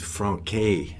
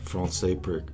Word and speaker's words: français: First of all, he said a couple times franquet, like he can't pronounce the français correctly.